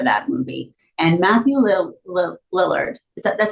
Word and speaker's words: Lillard: I actually did attend a premiere for that movie and Matthew Li Lillard, is that that's how you say his name, right?